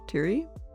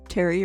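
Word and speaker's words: Pteri: Terry, assuming the P is silent. Poofen. I realized I didn't actually check it out. So that's Terry or Terry.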